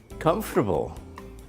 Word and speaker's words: comfortable: quality breakable recyclable comfortable notice the pronunciation of this word see there I'm comfortable please sit up Molly oh Mom I'm comfortable it has three syllables comfortable what about the or